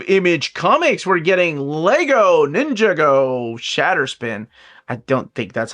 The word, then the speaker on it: Ninjago: From the world of Image Comics, we're getting Lego Ninjago Shatterspin. I don't think that's how you pronounce it. I really do think it's Ninjago.